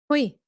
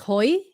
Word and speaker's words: Huy: Well, my brother's name was Huy, Nguyễn Hoàng Huy. And well, when he came to the US, people were trying to pronounce it. They look at it and they're like, Hoi, Hoi. Nói nó Hoi, nó không chịu.